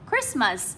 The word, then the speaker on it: Christmas: Christmas là danh từ hai âm tiết, chúng ta đánh dấu trọng âm 1 này, gạch chân này.